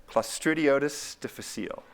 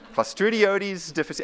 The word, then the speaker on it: Clostridioides difficile: It's the most common one, and it's pronounced, they're actually I think they're kind of beautiful, like Clostridioides difficile. Clostridioides difficile.